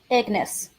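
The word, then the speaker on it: Ignace: Was it Ignes? Ignis. Ignis like Ness. Like Nes Ss. Ignis. Yeah, you don't you don't pronounce it the ace. It's too bad because it's it's written ace, but okay.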